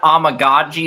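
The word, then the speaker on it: Amegadjie: Karan Amagaji, the Yale left tackle. Okay, Amagaji, yeah.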